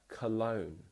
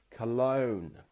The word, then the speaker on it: cologne: Now that is very weird spelling for how it's pronounced.